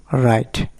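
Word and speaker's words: write: এরপরে rule number 2, ডাব্লু এর পরে এইচআর থাকলে ডাব্লু এর উচ্চারণ হয় না। যেমন রাইট মানে লেখা, রাইটার মানে লেখক।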